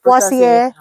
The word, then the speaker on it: Poaceae: Yes, over here we say Rutaceae, Poaceae, So dia panggil Poaceae. Poaceae. That's a new one for me. Europe punya pronunciation good.